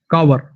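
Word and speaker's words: cower: कावर, कावर, इसकी प्रोनाउंसिएशन है कावर, कावर।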